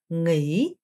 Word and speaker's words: nghỉ: 자, 그 다음에 nghỉ. 여러분, 일단 이 성조 자체가, 굉장히 좀 편안한 성조죠.